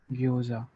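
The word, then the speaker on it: ギョーザ: E plus you ग्यो, एंड ऊ है इसलिए वो लॉन्ग प्रोनाउंस होगा, तो ये होगा ग्यो. एंड लास्ट वाला झा, ग्योझा. ग्योजा.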